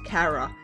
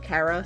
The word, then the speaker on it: Chara: This human is commonly referred to as Chara or Chara, but I'll be using the pronunciation Chara since it resembles the word character.